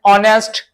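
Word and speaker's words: honest: जब इनके first letter को साइलेंट करते ना, चलो तो यहां से पढ़ोगे our, honourable, honourable man, ऑनेस्ट, है ना।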